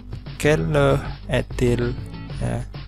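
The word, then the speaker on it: quelle heure est-il: hetil Jam berapa sekarang Kelo headlee ingat huruf H atau ask dalam bahasa Perancis tidak diucapkan Kelo aedilha Jam berapa sekarang untuk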